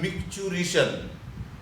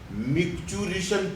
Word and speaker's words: micturition: इसको कैसे पढ़ना है, मिक्चुरिशन, MICTURITION, मिक्चुरिशन पढ़ते इसको, मिक्चुरिशन।